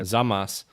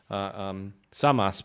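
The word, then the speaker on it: Servus: Zamas. Samas, but yeah. I need to be careful because the Austrians don't pronounce the S's like the Z as much as Germans do.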